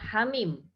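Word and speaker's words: حم: dan al-ahqaf ada Hamim Bagaimana cara membacanya Niha dibaca Dua harokat tanpa imbuhan Hamzah kemudian mim dibaca 6 harokat hai hai Min hammin hak Yah aku bukan hak jangan khawatir tapi hak Hamin haknya tidak ada imbuhan hamzahnya tidak boleh dibaca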